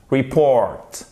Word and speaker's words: report: Report. Accent tonique sur la seconde syllabe.